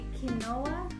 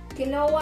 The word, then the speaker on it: quinoa: Quinoa? Quinoa ang pagbasa mo dyan. Mm-hmm. Ang tamang pronunciation niyan ay quinoa.